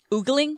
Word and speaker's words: ogling: what about my calves how do they pronounce it in the game ogling oogling ogling is what they said we say ogling they said ogling and eve says oogling drummer calves you guys